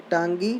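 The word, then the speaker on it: Ntangki: Tangi National Park. N is silent.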